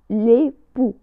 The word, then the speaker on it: époux: بالنسبة لمفرد الزوج le mari، le mari، أو أيضا ممكن أن نقول l'époux، l'époux بدون نطق حرف la lettre X، l'époux.